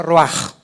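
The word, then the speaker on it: רוּחַ: Roach se pronuncia roaj.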